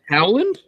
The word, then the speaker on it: Howland: Holland Oh better also you said my name wrong which is very common how the Howland it is exactly how it's spelled how when Alan what I say just now Howland everyone says Holland it's okay I get